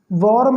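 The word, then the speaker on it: warm: वॉर्म ये लंबा उच्चारण नहीं करते, आर को सॉफ्टली पढ़ा जाता है, वॉर्म, वॉर्म।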